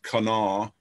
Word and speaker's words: Kanawha: as six counties in the southern coal fields kanawha that's how it's pronounced you folks from out of state kanan